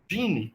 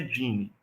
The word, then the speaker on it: Geany: E a nossa IDE, Gine, tá? Que escreve assim, ó, Geane, tá? Mas aí a pronúncia é Gine.